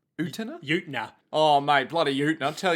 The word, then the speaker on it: Utena: Of, the protagonist and title of this show, Revolutionary Girl Utena. Utena. Utena? Utena.